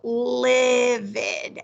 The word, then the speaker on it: livid: blinded live it so this word is correctly pronounced with the short vowel livid livid and it's just when